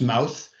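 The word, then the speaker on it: Mawrth: you'll see uh the third one down is mouth pronounced mouth uh it's also appears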